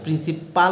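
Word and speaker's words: principle: পি এল ই প্রিন্সিপল এখানে হবে পল উচ্চারণ হবে পল পলটা হচ্ছে মুনীতি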